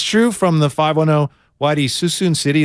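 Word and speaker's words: Suisun City: from the 510 Whitey Susan city is pronounced like Susan I'm from Vallejo I thought it was so soon Am I Wrong is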